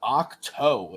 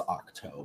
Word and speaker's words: Ahch-To: When Luke appears to Rey on Ahch-To in The Rise of Skywalker, she has just destroyed what?